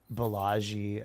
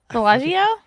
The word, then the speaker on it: Balaji: lot of ways, like actually have this guy Balaji Srinivasan on my podcast. He's like probably I think's like one of the smartest guys. And what's his name? Bellagio?